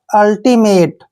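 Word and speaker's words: ultimate: तो देखिए यू एल का उच्चारण हम क्या कर लेंगे, अल, अल लिखेंगे इसको, और टी आई को क्या पढ़ते हैं, टी। एम ए को मे पढ़ेंगे, टी ई को टे पढ़ना है।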